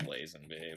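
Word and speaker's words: Lazenby: la or laen be I'm actually not isn't it is it lasen be I usually pronounce it lasen be but you know yeah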